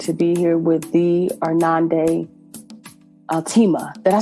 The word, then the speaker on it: Irnande Altema: So I am incredibly honored to be here with the Irnande Altema.